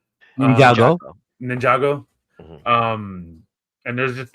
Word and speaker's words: Ninjago: The Lego Ninjutsu, if I'm not mistaken. Did I said it right? Ninjago.